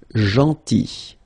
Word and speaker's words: gentil: Then, gentil. So remember this final L is not pronounced. Gentil.